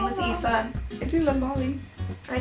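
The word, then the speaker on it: Aoife: yeah it's just one of my favorite names EA which is spelled a o i b h e it's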